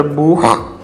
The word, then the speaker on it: Buch: A palavra Buch, em alemão, que significa livro. Esse som de CH no final, em alemão, Buch, é o som de Ri, é um som gutural, Ri, não Xi, ok?